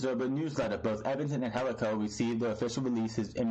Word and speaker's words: Angelico: Angelico began, and it is Angelico. Anybody who wants to pronounce his name wrong, it's not Angelico, it's Angelico.